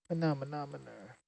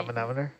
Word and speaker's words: manometer: Manometer. Yep, that's how you say it. That's how you say it, right? Yeah, Manometer.